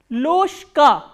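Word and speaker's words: ложка: Because again there is a voiced consonant coming before the voiceless consonant. So, what happens is this voiced consonant will be pronounced as its voiceless counterpart, which is sh.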